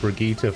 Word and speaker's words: Brigitte: you all off i said it the way you're supposed to say it brigitte it's over here hmm